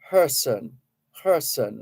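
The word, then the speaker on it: Kherson: visits occupied person region that's spelled k-e-r-s-o-n by the experts I've heard pronouncing that name uh say person person like person person k-h-e-r-s-o-n so Russia Ukraine war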